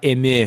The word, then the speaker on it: Dotemu: It's .emu, isn't it? I said that name wrong. Actually, it's .emu because it's French.